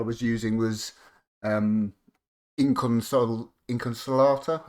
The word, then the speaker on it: Inconsolata: using was um Inconsol- Inconsolata, I think it's pronounced, like how I'm a slater, uh but not smelly.